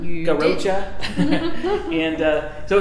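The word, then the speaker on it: Garrotxa: alva hoven and um it's called garocha it's g-a-r-r-o-t-x-a did i spell it right garocha and uh so it's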